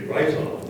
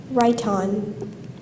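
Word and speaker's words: rhyton: Heinrich unearthed a rhiton during one of his archaeological expeditions. Are there any alternate pronunciations?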